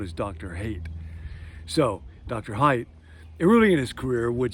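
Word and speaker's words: Haidt: social psychologist jonathan height his name is spelled h-a-i-d-t but he said a lot of people would pronounce it hate and if you're going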